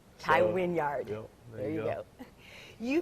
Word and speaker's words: Wynyard: All right, my last name is Wynyard, not Wynyard. Tai Wynyard.